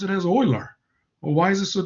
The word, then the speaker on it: Euler: stubborn about why is this so difficult to pronounce it as euler or why is it so difficult to pronounce